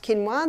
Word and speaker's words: quinoa: become familiar with it's spelled quoa but it's pronounced quinoa the Aztecs love their quinoa Aussies are starting